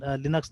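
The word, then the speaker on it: Linux: देखिए यहाँ पे भी लिनक्स बोल रहा है, लाइनक्स नहीं बोल रहा है ये। फिर ये जो इंटरव्यू है ना, इसमें ये यही लिनक्स है, ठीक है, ये तो लिनक्स ने, ठीक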